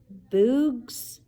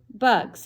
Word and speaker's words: bugs: "Bugs," he said. "Good," said Stanley. "Remember, it's a short U if there's no E at the end."